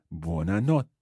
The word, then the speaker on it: buona notte: and not day again with that TT sound and they are try to bounce on it buona notte day buona notte day